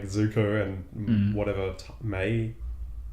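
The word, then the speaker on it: Mai: like Zuko and whatever may may yeah may my I always say my for some reason even though it's May it's oh okay it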